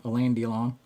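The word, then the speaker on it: Alain Delon: Uh with same thing with a landlong, is that how you say his name? Elandon. I always want to call him Allan, but it's El Don.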